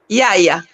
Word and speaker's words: Yaya: Prononcer bien en Kikongo, parce que c'est Kikongo. Yaya. Voilà. Yaya. La voix est longue.